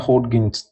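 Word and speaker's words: Hodgkin: ये नाम याद रखना, होडकिन, जी साइलेंट है भाई, ये के साइलेंट, होडगिन, होडगिन के साइलेंट है इसमें, के, होडगिन कौन है, मिसेस पेम्परेरी इसका गार्डनर है।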